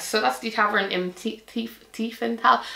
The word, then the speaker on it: Tiefenthal: So that's the Tavern in Tiefenthal. I keep wanting to pronounce it like there's a H there. There isn't.